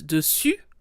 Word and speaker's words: dessus: look at the words dessus and dessous, above and below respectively. First of all, note the difference in pronunciation. Dessus with an U sound, and dessous with an OU sound. Dessus, dessous. U, OU.